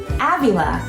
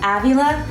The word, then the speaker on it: Avila: to say Avila Avila like the a in Avenue Avila Avenue when you think of Avila think of Avenue Avila perfect just like